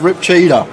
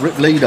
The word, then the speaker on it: Rip Cheetah: last 6 months for saying his name wrong. He come up to me at the live, he was like, it's Rip Cheetah. What were you calling him? Rip Leader, I think, for some reason.